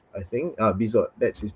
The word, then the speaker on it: Bizot: Yeah, so Marco Bizot, I think, Bizot, that's his name. He is going to be on my watch list soon, I think it's and French. You don't pronounce the T.